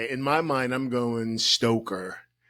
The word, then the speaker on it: Stoecker: Stoecker. There's a lot of people. Stoecker. Yeah. Thank you. Yeah, in my mind, I'm going Stoecker.